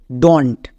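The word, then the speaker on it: don't: এর উচ্চারণটা হয়ে যায় ডন্ট। বোঝা গেল? তাহলে আমরা এর উচ্চারণটা কী করবো? ডন্ট, ডু নট না। আমরা যদি এরকম ওয়ার্ড দেখতে পাই উচ্চারণ করব ডন্ট।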